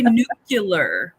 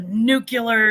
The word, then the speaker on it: nuclear: him with the broom they say nucular nucular yeah but the nucleus of that word is nucleus not nucleus and nucular is not a word so that drives me